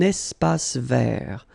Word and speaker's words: espace vert: First thing, you've got this little link between the two. Un espace vert. Final not pronounced, and then final T not pronounced.